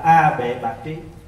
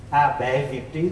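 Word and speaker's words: A Bệ Bạt Trí: Mà đủ ba cái này thì được gọi là A Bệ Bạc Trí. Có khi đọc là A Bệ Việt Trí cũng có. Nhưng mà cái đó là âm lại thôi, âm từ tiếng Phạn.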